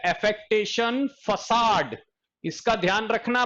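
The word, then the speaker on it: façade: Next हमारे पास जो है वो है एफेक्टेशन फसाड। इसका ध्यान रखना, प्रोनाउंसिएशन इज फैकेडनी, फसाड।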